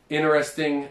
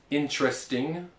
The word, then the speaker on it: interesting: So we have interesting or interested. Okay. Or we can also pronounce it as interesting or interested. So in this case, once again, we don't pronounce every syllable. Well, you don't read it as it's written, but you kind of smush them together and you say interesting. Interested.